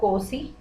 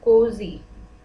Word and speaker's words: cozy: This is not cozy, pronunciation है cozy, z, ठीक है, cozy।